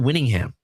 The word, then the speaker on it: Whittingham: They hired former Utah head coach, and I apologize if I don't say his name correctly, Kyle Whittingham.